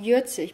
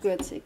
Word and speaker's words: Gürzig: So the village where I grew up, pronounced Jürzig, by the way, it's not Gürzig. It's written Gürzig, but it's Jürzig, in the local dialect, is located amidst the